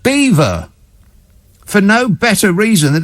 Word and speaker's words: Belvoir: of leicestershire and is spelled belvoir b-e-l-v-o-i-r but it's pronounced beaver for no better reason